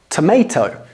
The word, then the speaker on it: tomato: Tomato. No, in British English, we kind of change the pronunciation of the A.